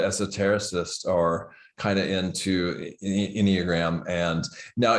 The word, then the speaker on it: Enneagram: Well, so now the second modality you were telling me about was is it the Enneagram? Is that how I've heard it pronounced? Absolutely. Enneagram and personality.